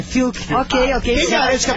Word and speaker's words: Fiuk: corrigiu a nossa pronúncia não é Fiuk é FK ok Quem garante que